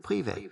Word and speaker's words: privé: It's pronounced privé, with the emphasis on the end and a slightly longer E sound.